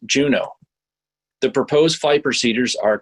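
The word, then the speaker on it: JUUNO: u u n Oh way point would be pronounced Juneau the proposed fight procedures are color-coded purple for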